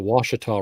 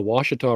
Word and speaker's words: Ouachita: think it's the same river well it's the Ouachita River but it's Arkansas and you know the